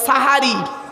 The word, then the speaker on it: সেহরি: তাকে আপনারা কি বলেন সেহরি জোরে বলুন বাপেরা করো জোরে বলি শব্দটা সেহেরি নয় শব্দটা সাহারি সিনে জের নয় সিনে